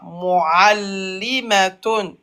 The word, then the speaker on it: معلمة: L'aïn, tu l'as pas bien prononcé. مؤلمة. Voilà. Mu'allimatun.